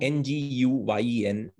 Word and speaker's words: Nguyen: So like mm, NGUYEN is not like, it's hard to pronounce, right? But yeah. it's just Nguyen. The G is more often silent.